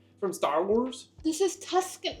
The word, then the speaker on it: Tuscan: This is that word that I thought was pronounced Tucson, but it's not. It's Tucson. Tucson? Or something like Tuscan.